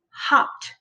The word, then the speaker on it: hopped: called an unvoiced so because it's unvoiced the e is silent and it makes it sound so we say hopped hot one syllable okay